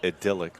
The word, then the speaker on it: idyllic: This is an absolutely idyllic. I call it idyllic, but that's because I speak now in West Virginian English, so.